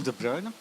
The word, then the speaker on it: de Bruy: It's difficult to pronounce for the most of you, but if you know Kevin De Bruyne, who is playing, or has playing in Manchester, then you know him very well.